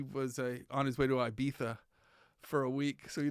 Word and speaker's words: Ibiza: before i beat that it's not iv it's ibiza ibiza it's all original it's